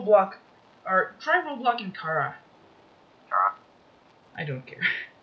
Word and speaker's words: Chara: I'm just gonna keep pronouncing it Kara, because, you know, character, Kara.